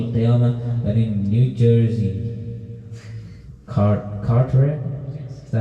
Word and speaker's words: Carteret: That in New Jersey, Carteret, is that how you say it?